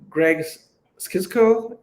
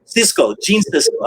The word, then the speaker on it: Gene Siskel: And you mentioned that Greg Skisko, did I say his name right? Gene Siskel.